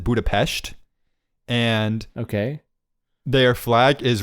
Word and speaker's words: Budapest: capital capital city uh Budapest and they pronounce it Budapestt and okay their flag